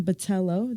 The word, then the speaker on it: Botello: to go here to Grossmont College actually Batello did I pronounce that right you got it also known